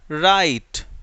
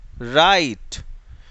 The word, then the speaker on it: write: चलिए next, silent W, silent W, जब डब्ल्यू और आर एक साथ हो, डब्ल्यू और आर, WRITE, राइट, राइट, WRIST, रिस्ट, रिस्ट।